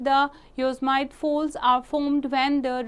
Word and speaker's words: Yosemite: The Yosemite Falls in California, Yosemite pronounced as Yosemite, okay, valley is world's second highest waterfall.